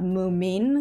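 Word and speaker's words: Mummi: the Mumi Papa and Mumi Mama's bedroom. And side note, throughout this video, I'm gonna be saying Mumi and not Moomin, because Mumi is how you say it in Norwegian, at least.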